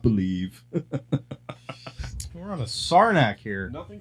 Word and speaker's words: Saranac: We're on a Sarnak here. nothing says. What- I'm sorry. Can you pronounce that beer again? Sarnak. Saranac?